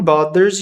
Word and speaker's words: bothers: Pode falar bs ou bers. Tudo bem? Só não pode falar butters ou bffers porque esse th com som de z. Bs que você pode substituir por d.